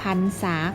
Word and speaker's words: พรรษา: อ่าน ว่า พอ อัน พัน สอง ตา 3 พรรษา ค่ะ ค่ะ ส่วน การ อ่าน คำ รอ หาร ที่ มี ตัว สะกด เมื่อ ระหัน อยู่ หลัง พยัญชนะ และ มี